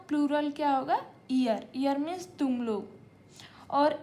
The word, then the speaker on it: ihr: इसका प्रोनंसिएशन आप देखिए। आई एच आर ईयर यहां पर ई से स्टार्ट होगा। लेकिन अभी यहां हमने देखा था इ आर एयर इसको ये ए से स्टार्ट हो रहा है।